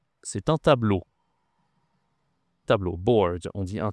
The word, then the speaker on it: tableau: C'est un tableau. Tableau. Board. On dit un tableau en français, d'accord ? E A U, ça se dit O.